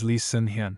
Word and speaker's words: Lee Seung-hyun: درحالیکه اسم واقعی سونگری Lee seung-hyun هست تفاوت خیلی ریزی در تلفظ کره‌ای اسم‌ها وجود داره رئیس برنینگ‌سان Lee seong-hyun